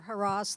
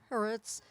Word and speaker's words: Haaretz: There used to be a leftist writer, I don't know whether Harass, the newspaper, is that how it's pronounced? Haaretz.